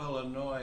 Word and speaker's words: Illinois: the people from chicago illinois i found out they get really annoyed if you if you if you pronounce the s actually it really annoys